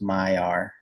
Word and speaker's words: Maillard: Maya, yeah, there There you you go. go. Like take the L out. It's Maillard, but it's pronounced Maillard.